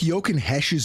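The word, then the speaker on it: Jochen Hecht: we were just talking about hockey he took yoken Hesh's number from Yoo it's yoken hes but it's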